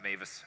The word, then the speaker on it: Mewes: that doesn't make sense it's actually a German last name I speak no German I've never been to Germany but somehow we kept the pronunciation of Mavis over the years so today we're going